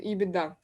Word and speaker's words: EBITDA: and so on so those are beat and ebitda that's exactly how they are pronounced so beauty states for